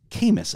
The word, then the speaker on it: Camas: Coming in from northern part of Utah into Camas. Do I pronounce it right?